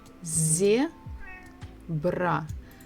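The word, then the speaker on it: зебра: book is a zebra so we stressed the first syllable zebra zebra next letter is quite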